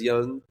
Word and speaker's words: Jung: Carl Yung it's pronounced almost the same as yung but it's like a little more oo like the oo in both words is actually the same yung mudra you know it's like